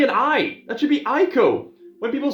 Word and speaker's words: Ico: I that should be ieko when people say Eco I assume eco-friendly and economics you know why do people pronounce this as Eco why not Aiko anyway there was no